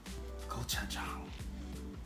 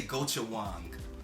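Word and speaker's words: 고추장: Gochujang. People will say gochujang, but you don't silence the J in Korean language.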